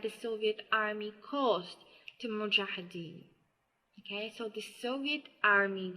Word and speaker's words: Mujahideen: specific about the spelling but at least the pronunciation so it's Mujahideen the strength of the army grow but it